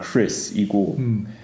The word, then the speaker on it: Chris: 그래서 그 이름 할 때 IH 그거는 Chris이고 그리고 이거는 Crease 이거는 장음 이 길게 할 때.